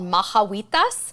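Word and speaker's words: Majahuitas: there's another one that I love it's called mahawitas and it's spelled m-a H or j m a h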